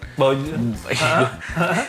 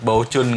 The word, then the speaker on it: Baojun: Baojun? Bacanya kita nggak ngerti kita nggak tahu bacanya. Nggak ngerti apa, tapi kalau kata orang-orang bacanya mirip-mirip Bocuan gitu lah, Baocun gitu ya. Baucun katanya. Bocuan.